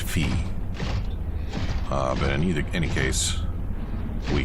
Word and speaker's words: Phi: I believe it's pronounced Fee.